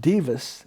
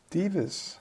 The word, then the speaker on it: Bevis: So that's pronounced Bevis. It's DVA Solutions. Bevis.